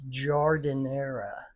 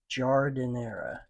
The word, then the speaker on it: Giardiniera: So, and correct pronunciation of this is Giardiniera. Giardiniera.